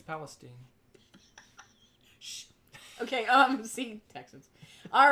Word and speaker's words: Palestine: Oh, Tommy's trying to tell me how to pronounce Palestine. It's Palestine.